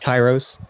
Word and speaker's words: Kairos: i say karos karus kairos kairos i'm never going to say it right kai and rose cairo okay look remember the city like cairo but with an s yes okay what do